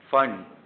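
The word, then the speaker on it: Pfund: Okay, and फिर पांचवी फंड। ऐसे पी फंड है बट इसको फंड बोलते हैं, पी साइलेंट है।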